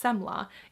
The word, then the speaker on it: semla: to as a semla I think that's how it's pronounced semla it's a Swedish word so in Sweden one